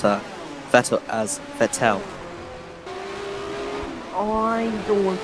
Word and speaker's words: Vettel: in 2007 of Formula 1, they used to pronounce Vettel as Vettel? I don't want to remember that. I just want to forget for sure. Yes. Don't want to What's wrong with Vettel?